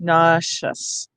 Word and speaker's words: nauseous: N, ah, na, and the SE is either going to say sh or zh, shus or just, nauseous.